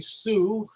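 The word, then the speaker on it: Xu: Mary Lee was the love interest of Dave Slade, and she was played by Rosie Sue. Sue is spelled X-U.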